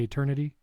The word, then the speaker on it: eternity: on a podcast, and I guess you need to swallow the second T. You got to say eternity.